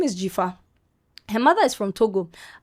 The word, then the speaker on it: Djifa: And she spells her name with a J. So DJIFA. Okay. She said it on the podcast. Hi guys, my name is Jifa.